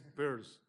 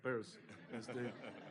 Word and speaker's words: Peirce: Peirce. Sí, como peras en inglés, ¿verdad? Peirce. El apellido se pronuncia exactamente igual al nombre en inglés para lo que es la bolsa de la mujer, purse.